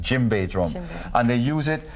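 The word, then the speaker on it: djembe: drum is called the jimbe d j m b e the D is silent jimbe drum and they use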